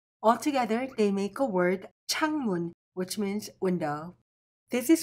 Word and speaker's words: 창문: Altogether, they make a word changmun, which means window.